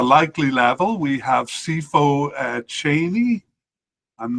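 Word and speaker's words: Chaine: And at the likely level, we have Sifo Cheney. I'm not sure I'm pronouncing that correctly, but it's like a metal chain with an E at the end. Sifo Cheney, I'll say.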